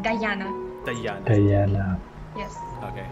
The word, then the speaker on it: Dayana: I don't know why many people think that my name is pronounced like Dayana or Diana, but my name is pronounced like Dayana.